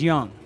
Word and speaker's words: Young: I wasn't sure if it was Young or Jung, but it's Young.